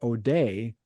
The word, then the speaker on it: O'Day: Now it happens that O'Day rhymes with TMJ.